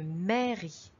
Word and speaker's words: mairie: lettres à y est on remarque également qu'il y à une lettre muette à la fin de mairie il y à une